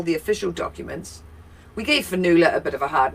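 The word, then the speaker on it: Fionnula: We gave Fanula a bit of a hard name because, it's Irish, and so the O is silent. F-I-O. N-N-U-L-A. Without saying the O.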